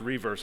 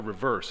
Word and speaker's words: reverse: Each year, we issue 5 new designs on the quarters reverse, and it's pronounced reverse, I found out since I've been at the Mint. It's not a reverse, it's a reverse.